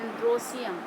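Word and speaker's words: androecium: और इसको स्टेमेन को बोलते हैं एंड्रोसियम, सीधे सीधे बोलते हैं, स्पेलिंग उसी तरह से एंड्रोएशियम, ई लगाते हैं इसलिए, लेकिन बोलते हैं एंड्रोसियम।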